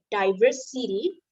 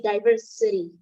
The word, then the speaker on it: diversity: and then i here instead of you um pronounce it as the diverse city so it should be diverse city so a little bit sound like a diver